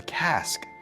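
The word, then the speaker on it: casque: the horn Bill's helmet is called a cask it rhymes with mask like ear Tufts and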